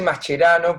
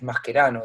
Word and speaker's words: Mascherano: javier mascherano o mascherano se dice mascherano porque obviamente soy argentino pero pero bueno es obviamente es un apellido derivado del italiano con raíces italianas y bueno si lo hacéis al tales masquerano digamos mis antepasados que